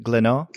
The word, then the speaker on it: Glénat: the publisher Glénat, and am I pronouncing that name correct? Glénat? Very, very good.